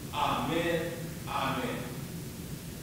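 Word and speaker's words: ἀμήν: And in the Greek Bible, it's literally pronounced, amen, amen.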